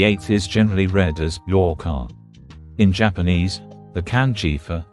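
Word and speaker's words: 八日: a duration, the 8th is generally read as yoka. In Japanese, the kanji for 8 is pronounced as hachi in its onyome and ya in its kunyome.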